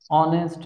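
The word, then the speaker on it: honest: ধরো আমরা যে হি ইজ হি ইজ হি অনেস্ট ম্যান এখন এইচ এর উচ্চারণ কিন্তু এইচ সচরাচর এইচ এর উচ্চারণ হয়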